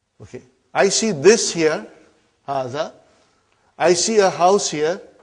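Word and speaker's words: هذا: Haza see it is pronounced like ha. Huh? But this al if is not written.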